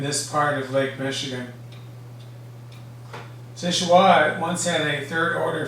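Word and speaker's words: Seul Choix: first lit in 1892 sichua is a local pronunciation of french words meaning only choice or soul choice it got its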